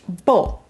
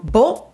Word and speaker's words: Beau: very short vowel sound bo the letter combination e a u in french is o as in and uh